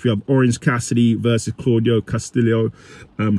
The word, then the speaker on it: Claudio: have orange Cassidy versus claudo Castillo um that's how I pronounce his name Claudio I call him claudo anyway for the International